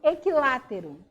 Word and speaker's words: equilátero: obrigatório ele é facultativo na pronúncia como por exemplo equilátero né um triângulo equilátero quando eu falo equilátero eu não Estou pronunciando ir não posso falar equilátero E aí um se